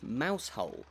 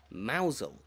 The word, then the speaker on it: Mousehole: Despite what you can see in front of you, the village's name is not pronounced Mousehole, but rather Mousehole, and there are plenty of different theories as to where exactly it came from.